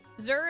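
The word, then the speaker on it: zir: her is that correct Zur is pronounced like sir but with a z instead of an S yeah so it's kind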